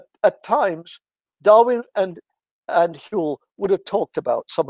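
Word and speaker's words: Whewell: you see it written down it looks like wavel but it's pronounced hewl okay so hule was a specialist in kant you'll read german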